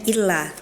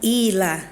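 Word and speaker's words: إِيلَافِهِمْ: Nah, itu tadi ana bacanya illa harusnya ila itu beda ya, beda arti juga, beda bacaan juga.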